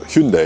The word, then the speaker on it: Hyundai: Here we have a Hyundai or Hyundai if you want the proper pronunciation.